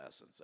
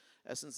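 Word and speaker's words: SSENSE: retailer so who do I call I call Essence everyone familiar with Essence in the United States who is not familiar with essence essence is a one of the bigger let me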